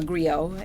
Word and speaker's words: Griot: And Miss Kara is an actress, producer, and the creator of The Great Griot. Or Griot, as you want to pronounce it. French or English, it don't matter.